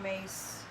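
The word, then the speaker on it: Myss: And Carolyn Mace, if you want to look her up, it's C-A-R-O-L-I-N-E, and her last name is spelled M like Mary, Y-S-S.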